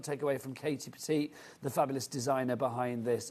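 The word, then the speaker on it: Pertiet: That's how you said spell it, but it's said Petite, which is lovely, the most darling name.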